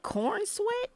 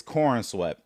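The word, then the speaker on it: Corenswet: David, you gave I didn't know how to pronounce his last name, so Cornw is cornswe. It's it's cornswe.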